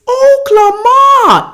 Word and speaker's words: Oklama: you pronounce oklahoma is oklahoma everyone has to pronounce it like oklahoma listen that's how you pronounce it mr mars and the